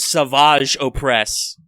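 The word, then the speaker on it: Savage Opress: Well, they make it's pronounced Savage Oppress, but that guy, they make him super swole by making him drink the green goop.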